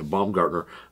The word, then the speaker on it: Baumgartner: Yeah, Baumgartner, or as you know him, Kevin from The Office.